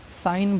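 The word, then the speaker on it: sign: नहीं बोलना है रिजाइन इसको सिगन नहीं साइन बोलना है क्यों क्योंकि इसका जी साइलेंट है मुक है इसका प्रोनाउंस हमको नहीं करना है बिल्कुल भी नहीं करना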